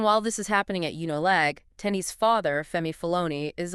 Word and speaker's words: Unilag: At the University of Lagos Unilag, pronounced Unilag.